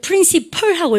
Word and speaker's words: principal: 여러분들 프린시펄하고 읽어주셔야 돼요. 그대로 적힌 대로 읽으시면 안 돼요.